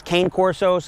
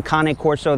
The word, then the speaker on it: Cane Corso: is a kane corso some people refer to them as cane corso's i like the pronunciation kane corso they are italian so